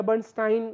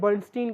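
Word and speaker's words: Bernstein: लेकिन Edward बर्नस्टीन या बर्नस्टाइन भी कई बार इनको प्रोनाउंस किया जाता है, हम इन्हें बर्नस्टीन कहेंगे।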